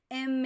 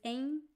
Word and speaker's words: em: We don't pronounce M. We pronounce em. We don't touch the lips. So it sounds a little bit like an N.